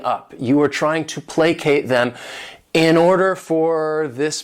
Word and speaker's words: placate: This word has 2 syllables, and the stress is on that first syllable, placate.